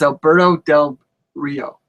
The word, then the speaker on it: Alberto Del Rio: it say his name right alandon Dand it's Alberto Del Rio Alberto del ringan close close enough okay can